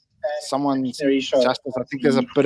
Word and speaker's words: Justus: As me being a Soti, it's going to have to be Justice, but it's Justus is the correct way of pronouncing it.